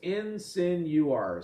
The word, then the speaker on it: insinuar: You look at insinuar, how obvious is that? It's spelled in, and then sin, and then U as a separate letter, and R. So it's insinuar.